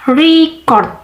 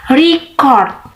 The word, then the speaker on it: record: When the stress is one the first syus record. Okay, record it's a noun when the stress is one the second syable record. Record it a verb.